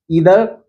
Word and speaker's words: either: मेरे दोस्तों आज हम लोग ईदर और नीदर के यूज़ को जानेंगे। ईदर और नीदर के यूज़ को सीखेंगे। ईदर को आइदर भी बोलते हैं।